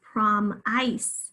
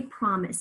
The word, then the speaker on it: promise: with the letter a promise again in promise we can hear it in the second syllable we don't say prom ice we say promise so again it's i consonant e is spelling the schwa sound there let's just briefly review